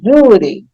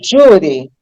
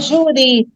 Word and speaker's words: júri: Quando eu pronuncio júri, eu percebo que a sílaba tônica agora não é mais a última, não é juri, já vai ser a penúltima, né?